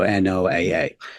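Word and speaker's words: NOAA: space of course so instead I just said the letter so n o AA so that's quite an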